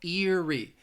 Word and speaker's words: eerie: bit easier again Erie both of those values start with the long vowel sound in the first set of year and then it ends with that long e sound as well eerie eerie something is eerie